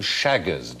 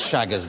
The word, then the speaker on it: Chagas: And while we're on the subject of diseases, who suffered from Chagas disease?